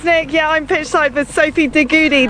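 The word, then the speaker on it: Sophie de Goede: yeah i'm pitch cypher sophie goody that's how you pronounce her name i did just double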